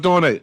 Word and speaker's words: Fatone: Fatone, that's how you pronounce it. Fatone.